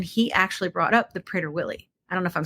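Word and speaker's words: Prader-Willi: But um what blew my mind is then he actually brought up the prader Willie. I don't know if I'm saying it right. Prader Willy.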